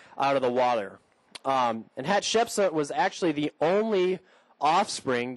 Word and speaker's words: Hatshepsut: the first had a daughter named hat Shep Hatshepsut gotta say it right Hatshepsut and she was a very famous person in